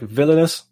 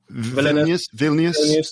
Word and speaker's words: Vilnius: pronounce this name but i think it's like villainous right vilnius yeah yeah the capital will